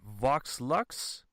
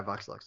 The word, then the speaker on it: Vox Lux: Swan 2 with Joel how would you pronounce this is it Vox luxe yeah box luck okay I didn't know if there was like any accident or whatever but um this one is Vox luxe and this one tells